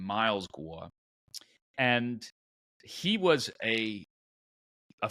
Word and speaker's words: Guo: The guy's name is Guo Wen Guuay and his last name is Gua in Chinese and in English he uses the name Miles Gua and he was a